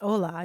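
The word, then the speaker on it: hola: an H although it's Ola you don't pronounce the h interesting pretty cool right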